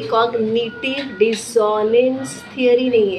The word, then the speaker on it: dissonance: अब डिसोनेंस हमें पता है कि इसका सही प्रोनाउंसिएशन है, वी विल नॉट से डिसोनेंस, we will say डिसोनेंस। इसमें जेड का भी साउंड नहीं है और जॉ नहीं आएगा। डिसोनेंस।